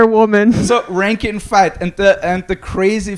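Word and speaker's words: Fite: a fake person because his name is ranking fight rank and fight right yeah but it's written like this oh it's spelled f-i-t-f-i-t-e fight right ranking fight like ranking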